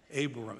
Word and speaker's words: Abram: A-B-R-A-H-A-M, how do you say it? Abram, A-B-R-A-M.